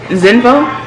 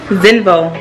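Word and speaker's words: Xenvo: Is Zinvo? That's how you pronounce that, right? Zinvo. Because the X is pronounced like a Z, right? Yeah. I think so. Yeah, exactly. Zinvo Squid Grip Tripod.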